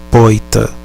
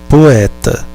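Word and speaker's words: poëta: palavra poeta em latim nós temos um encontro da letra da vogal o e da vogal é porém não a de toco nós nos pronunciamos poeta a palavra é poeta neste caso usamos um trema sobre a segunda vogal para indicá a uma província separada chama a atenção para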